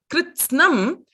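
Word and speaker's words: कृत्स्नम्: In that syllable, in that kritsnam, it is kr is a gunitaksharam. It is kr. Then it is snam. It is takaraha first, then sakaraha. Not sakaraha first and then takaraha.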